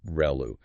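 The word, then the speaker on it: ReLU: Professor Ru mentioned um the ru function pronounced reu which is really important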